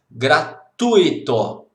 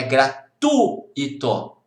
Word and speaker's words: gratuito: Se não tem acento, a pronúncia é gratuito. Não é gratuito, não, é gratuito. A sílaba tônica é no U, gratuito, ok?